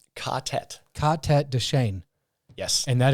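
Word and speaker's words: ka-tet: And so for everybody that doesn't know, and I'm being very vague here, and how do you pronounce is it Cadet or Catet? Catet.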